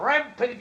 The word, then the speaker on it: rampage: Use the long a sound at the end for a e age.